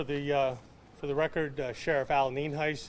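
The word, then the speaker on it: Nienhuis: the uh for the record uh Sheriff Al ninheis it's spelled n-i-e-n-h-u-i-s and it's pronounced Neen Heist and I have uh Sheriff Naco here with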